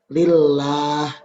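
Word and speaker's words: لله: Lillah. Itu yang benar. Bukan lillah. Nah, sering juga ini yang sering terjadi kesalahan. Baik. Silakan lanjut. Lillah.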